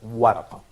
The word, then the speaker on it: ورقة: That's called waraqa. So can you pronounce it again?